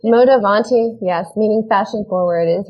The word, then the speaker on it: Modavanti: Is that how I pronounce it? Modavanti, yes, meaning fashion forward, is really a sustainable fashion and wellness brand.